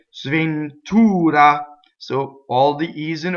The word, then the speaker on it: sventura: Now, me is a strong monosyllable, so if you notice the sventura.